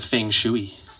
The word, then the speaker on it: feng shui: down to the garage it was killing the feng shui that's how you pronounce it i looked it up rich looks